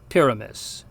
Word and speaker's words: pyramis: Now, the letter Y sounds pretty much like the letter I, that is, the Latin letter I. So the word for pyramid is pronounced pyramis.